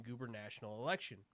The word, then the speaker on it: gubernatorial: NBC Bay Area obtained voting data from 13 counties for the 2018 gubernatorial election. Did I pronounce that right? Gubernatorial. Gubernatorial? Yeah, that's it's an R, not an N.